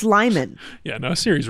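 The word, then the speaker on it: Limon: wrong who who Siri yeah what sir it's Lyman yeah no Siri's wrong on that it's I think it's Lyman too those are the options lemon Lyman or Le lemon lemon lemon Lon no it's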